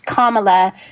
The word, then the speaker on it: Kamala: to say her name's her name's not it's Kamala it's not yeah because because he believes he